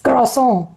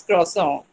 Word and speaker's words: croissant: even I know, but I want Rainy to give the specific, French pronunciation. Are you there? Okay, Priyanka, you can try. Priyanka Channa. It's croissant. That's Croissant. it's croissant.